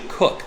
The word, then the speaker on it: Koch: i've been pronouncing it coke but it's actually cook the case koch is pronounced cook they are the founders